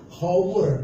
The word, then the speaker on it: hour: Hour, jam, tulisannya kan pakai H, hour, tapi bacanya apa? Hour. Orang Inggris gak bisa bilang H pada awal. Gak bisa. Jadi karena gak bisa dia bilang H pada kalimat awal, maka berubah jadi Hamzah jadi A, hour.